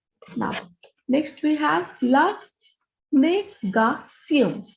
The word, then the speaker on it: négation: Now, next we have la négation. When we have Tion here, the pronunciation is sion.